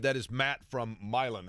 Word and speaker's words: Milan: you by the way the fact that you didn't pronounce it Milan you can always tell when somebody's new in town when they're like last night in high school basketball Milan defeated versales yeah you know or actually